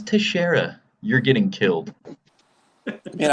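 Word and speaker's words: Teixeira: glover oh glover glover texara no it's teshera you're getting killed i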